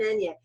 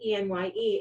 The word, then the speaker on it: Enye: know, why is it E-N-Y-E? It's because literally that's the phonetic spelling. So if you look it up, it's E-N-Y-E.